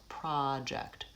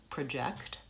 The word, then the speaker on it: project: So for example, for the word project, the first syllable is lengthened and there's a pure vowel ah, project. Versus when it's a verb, project. The first vowel is schwa, it's reduced and it's short, and the second syllable is stressed, project.